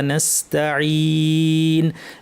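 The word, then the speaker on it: نستعين: নাইন্ তারপরও দেখা যায় আমরা বাঙালিরা যখন আমরা বাংলা ভাষাভাষি উচ্চারণ করি তখন এটা নসত নসতন এরকম একটা ভারী আওয়াজ হয়ে যায় হ্যা ভারী হবে না এখানে সদের মত আজ সদ হবে না সিনসতা এখানে একটাও ভারী হরফ নাই পুরা আয়াতের মধ্যে কোন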